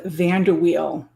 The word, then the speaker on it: VanderWeil: it's it's an unusual it's an unusual pronunciation uh so go ahead van der wheel van der wheel okay you say it